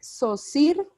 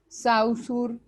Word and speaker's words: Saussure: hago de la aclaración el apellido del señor se pronuncia saussure pero se escribe shaw sure y hay mucha gente que cuando se refiere a él le dice de todo chau sur bueno de múltiples maneras le dicen y uno lo alcanza